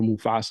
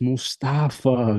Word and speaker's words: Mostafa: I just tell everybody please don't call me mustard or Mufasa you know what I'm saying growing up in the states different communities man they butchered my name left and right it's like oh Mufasa I'm like no it's Mustafa guys I'm not talking about the Lion King please so I appreciate